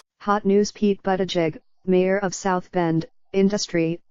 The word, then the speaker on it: Buttigieg: In an email to potential supporters, Mr. Buttigieg, he pronounces it Buttigieg, said he was forming